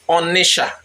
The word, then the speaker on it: Onicha: And to make it worse, she used the spelling Onitsha to back her point. You know that sha instead of cha. It is sounding to some as if that is the real name.